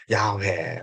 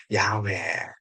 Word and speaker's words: 야훼: 그래서 지금 또 하나님께서 모세에게 직접 알려주신 이름을 어떻게 발음합니까? 야훼 혹은 또 그 발음을 여호와가 아닌 뭡니까? 야훼 또 아도나이.